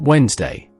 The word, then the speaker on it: Wednesday: It is actually pronounced Wednesday.